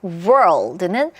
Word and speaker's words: world: 이거 두 개의 발음교를 보자면 발음교 거의 다 똑같은데 world에 뭐만 있어요? L 사운드만 있어요. 그런데 word에는 L 사운드가 없어요.